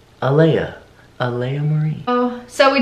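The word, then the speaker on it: Alaïa: clearly her name is uh Leia Aleya not Aliya not Elena its alia Alia Marie oh so we didn't want the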